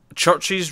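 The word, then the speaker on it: CHVRCHES: It's pronounced Churches, I believe.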